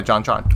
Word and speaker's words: JonTron: Yeah, JonTron.